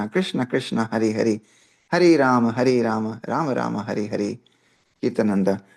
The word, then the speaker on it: Rama: Rama, produced Rama, is the incarnation of Vishnu as the prince of responsibility.